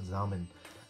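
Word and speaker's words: Samen: German ভাষায় সামেন, সামেন না, উচ্চারণটা হবে জামেন।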